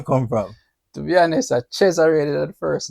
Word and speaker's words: Cheoray: Today we have CHEORAY. Did I get the pronunciation right? No, you know, the thing is, a whole lot of people mispronounce it. It's Cheo. Oh, Ray. CHEORAY.